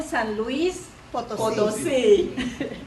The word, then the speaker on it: San Luis Potosí: Born in San Luis Potosí, the correct pronunciation, Mexico, Josefina was 5 years old when